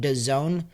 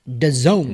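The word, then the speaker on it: DAZN: by the word um Doone but it's actually spelled D A z n think of it like this the Zone z o n e it's like it's the Zone it's the Zone Z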